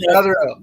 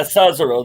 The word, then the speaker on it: Cesaro: How is it pronounced? Mess around. Sazaro. It's Sazaro. Cesaro. Yeah, Cesaro.